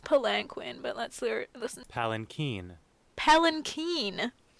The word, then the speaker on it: palanquin: It's spelled palanquin, but let's listen.